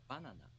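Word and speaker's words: バナナ: example banana is pronounced banana in japanese high low low hmm the accent is on the first syllable the pitch drops right after the accented syllable banana no banana different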